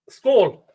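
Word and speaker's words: skål: Skull.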